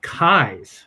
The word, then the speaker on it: Keyes: Commonly pronounced keys.